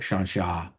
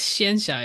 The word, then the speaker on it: Xianxia: yeah, it's pronounced Xianxia.